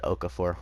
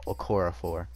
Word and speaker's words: Okorafor: hold on chukwuama okorafor i said okafor which it's okorafor um and then dan